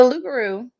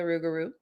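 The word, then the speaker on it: loup-garou: were occasions though now the lugaro or the rugaru depending on who you are and how you say it has spawned a lot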